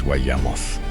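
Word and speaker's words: וַיָּמֹת: En hebreo, esa última palabra es Wayamoth, y es la primera vez que esa palabra aparece aplicada a un ser humano en toda la Biblia. Wayamoth. Y murió, 3 sílabas en hebreo, el primer obituario de la historia.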